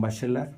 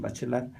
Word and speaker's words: Bachelard: de vista fenomenológico de gaston bachelard bueno se pronuncia así pero mexicanizado es gastón bachelard este plantea el tema